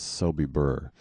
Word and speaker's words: Sobibor: book we find that sobibor was mentioned once at the big nuremberg trial but spelled as soby burr the misspelling being closer to how it's pronounced it occurs where camp